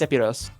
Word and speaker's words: Sephiroth: I was just saying Sephiroth in Japanese is pronounced Sephiros because the th makes an s sound, and the ph is just treated as p.